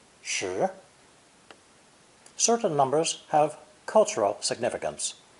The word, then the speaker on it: 十: This character is pronounced second tone, shi, shi.